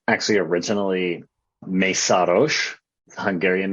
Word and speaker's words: Meszaros: So we've always just said Meszaros because that's what's been passed down to the family. It's actually originally Meszaros, Hungarian name.